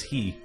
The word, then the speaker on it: Hi: My in real life name is Hi, which is pronounced as he. Sorry.